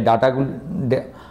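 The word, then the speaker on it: data: এফআইআই বা ডিআইআই এর এই সমস্ত ভ্যালুগুলো দেয় ডাটাগুলো ওবা ডাটা বলা যাবে না তো অনেকে আবার ডাটা চর্চরি হবে এখানে ডাটা ফ্যাটা উচ্চারণ করতে হয় যাই হোক আমরা সাধারণ লোক আমাদের ডাটাই বলি আর কি আপনারা যারা ঠিকঠাক বোঝেন একটু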